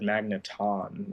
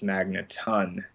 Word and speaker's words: Magneton: the show and I've always said Magneton like with a with a long o at the end and then found out recently that it's Magneton and they say that